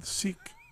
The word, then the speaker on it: Sikh: next week there's a Sikh six see they pronounce it wrong like six six they don't pronounce Sikh they say it differently a lot and there